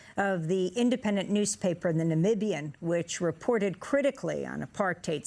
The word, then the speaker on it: Namibia: So let's talk about your country, well, why don't you share with the world how exactly you pronounce Namibia? Namibia.